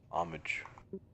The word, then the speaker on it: homage: RSI as a company a silent h homage no foul though omelet